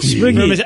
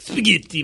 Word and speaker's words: spaghetti: And then the minute she gets to spaghetti, she says spaghetti. It, like, spaghetti. And Ellen made fun of her.